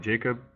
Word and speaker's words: Jakob: let me introduce myself my name is Jakob I read in English you can pronounce that Jacob I am a software